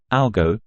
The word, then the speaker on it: algo: as algorithm in contrast in the short form algo we pronounce the O as a long o sound so it is pronounced